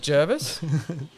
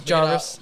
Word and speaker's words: Jervis: believe okay is it Jervis Jervis Jarvis we could ask look that up Jarvis and also lyanna oh it does the mouth Jervis or Jarvis Bay in Australia American pronunciation British I hope you got